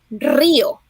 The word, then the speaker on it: río: In Spanish, river, you say río. You got to roll your R's.